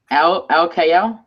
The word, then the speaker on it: Alkayyal: It's How do you say your last Alkayyal. name? Alkayyal. Al Kayal?